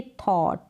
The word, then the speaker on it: thought: यहाँ पर स्पेलिंग है THOUGHT, इसको आप पढ़ेंगे थॉट। क्या पढ़ेंगे? थॉट।